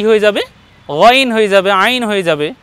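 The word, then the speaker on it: غين: বলবো না গ এবং গয়নকে উচ্চারণ করার সময় আমরা ঠোঁট গোল করবো না গ বলবো না দেখুন ভাই গইন জি আরেকবার বলুন গইন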